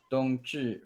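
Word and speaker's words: 冬至: Like maybe like the Dongzhi festival? Did I pronounce that right?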